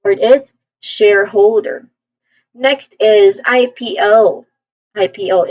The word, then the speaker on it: IPO: Say the first is I. That's a diphthong. I. P. P. There's a short E vowel sound here, and then another diphthong, which is O. O. So this part often has a slight emphasis. So you pronounce basically just, pronounce each letter clearly. So we say it as IPO.